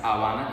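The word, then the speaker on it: Habana: our capital is not Havana it's Havana in Spanish with no ha sound right so um his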